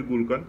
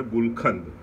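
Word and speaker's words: গুলকন্দ: তো গুলকান্দ, এখন আমরা বলি গুলকান্দ, কিন্তু অ্যাকচুয়ালি ওর যে প্রোনাউন্সিয়েশন সেটা গুলকান্দ।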